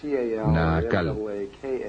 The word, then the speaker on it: Naacal: Se llamaba Naacal, N-A-A-C-A-L, o N-A-A-Cal, depende de cómo lo quieran pronunciar.